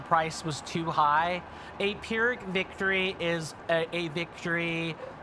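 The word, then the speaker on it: Pyrrhic: I'll spell that as well because it might not sound like you think it does. Okay. So, that that's how you would spell that. The the victory part is easy, but pirick is is not.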